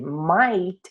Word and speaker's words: might: Might, que não se pronuncia o T, que é assim, might, né?